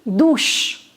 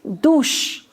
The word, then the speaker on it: douche: Shower is une douche. Une douche. OU in French is pronounced as O, so it becomes do, and CH is sh. So, une douche.